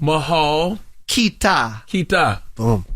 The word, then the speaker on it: mahal kita: can you listen okay are you ready Mahal mahal kita Kita that means I love you oh really